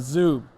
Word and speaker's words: Zuub: when I think about Zoo it's like Zoom but with a B that's the best way to pronounce it yeah yeah so no